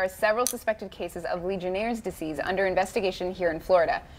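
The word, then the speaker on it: Legionnaires' disease: here alright so let's start with what is Legionnaires disease am I even saying it right you doing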